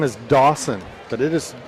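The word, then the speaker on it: Daucyn: Wesley's first name is Dawson, but it is spelled very uniquely.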